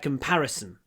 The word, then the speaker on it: comparison: It is not a fair comparison. Здесь тоже короткий Comparison. Comparison. И мы не говорим comparison, вот ударение на втором слоге, comparison. Пауза дает, отмечает ударение.